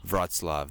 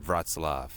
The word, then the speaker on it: Wrocław: It's my last morning in Wrocław. That's how you pronounce this town, Wrocław. Finally figured that one out.